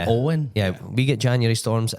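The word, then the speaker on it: Éowyn: it to miss storm Owen alen how do you say that name it's got really weird spelling sounds like storm Owen yeah we get January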